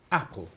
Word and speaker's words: apple: Apple. Apple. How many syllables? Two syllables. 2 syllables. Yeah. Which syllable is the strong syllable? First. The first one or the second one? First.